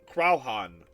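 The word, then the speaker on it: Croaghaun: Pronunciation, Crowhan.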